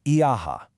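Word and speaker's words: Ἰά: The Jews, iaha. That's it, I-ah. In the original Greek text, it's just two vowels, iota and alpha.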